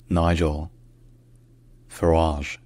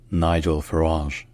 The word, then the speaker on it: Nigel Farage: the EU so in English his name is pronounced Nigel farage Nigel farage Nigel farage Nigel farage all right if you enjoy learning